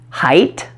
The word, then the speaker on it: height: isn't it and finally let's talk about the final T your tongue will touch the alveolar Ridge right here just behind your upper front teeth but since it's at the end of the word don't release the puff of air like you would for a tea at the beginning of a word so there you have